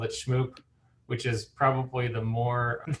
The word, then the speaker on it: Shmoop: yeah absolutely absolutely happy to do it yes shmoop is the is the is the the right way to pronounce the company however so many people over the years have called it shmoop which is probably the more a more standard